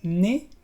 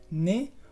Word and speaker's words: nez: Y también cuando se encuentra antes de una consonante muda final. Por ejemplo, en las palabras nez, que es nariz, nez, o también pie, que es el pie.